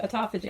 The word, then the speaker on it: autophagy: autophagy You said it right, autophagy.